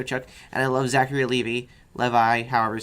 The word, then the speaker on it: Levi: I love the show Chuck, and I love Zachary Levi, however you say his name. Levy.